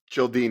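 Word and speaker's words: Cialdini: Childini. Vinney: Childini. Spell it. Beau: C I A L D I N I. Vinney: Ah, Beau: Childini.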